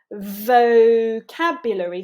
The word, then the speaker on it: vocabulary: Vocabulary, for that first angular sound. We want to be biting that lower lip.